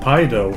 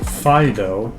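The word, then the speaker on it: Fidough: Not Pido, Fido. Thank you. Like the dog.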